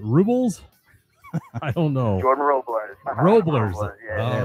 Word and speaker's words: Robles: pronounce it Robles? Robles, almost like the S is a Z.